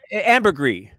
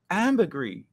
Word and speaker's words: ambergris: do you say it ambergris ambergris or no amber grease ambiguity no i think i think the s is silent if you're if you're